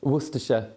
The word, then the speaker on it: Worcestershire: For the record, how do you pronounce it? Worcestershire.